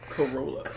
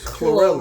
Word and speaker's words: Chlorella: Chlorella. Did I say it right? Corolla. Not Corolla. You said it right. Chlorella.